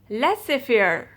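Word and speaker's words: laissez-faire: you're rendezvous less if you're rendezvous the correct pronunciation of these words is lesser fear less fear rendezvous less severe rendezvous rendezvous meaning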